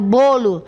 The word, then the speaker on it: bolo: Palavra bolo no singular, olha a pronúncia, fechado, bolo, certo?